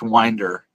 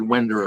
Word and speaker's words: Winder: is I think really the last name is pronounced Winder uh I said wer earlier um but uh General